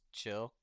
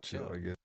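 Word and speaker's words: Qill: No, the good the good one is uh the good one is is chill spelled Q I L L cuz our No, chill. Get it? Chi Chi ch ch ch ch ch ch ch ch ch ch ch ch ch ch ch ch ch ch ch ch ch ch ch ch ch ch chill.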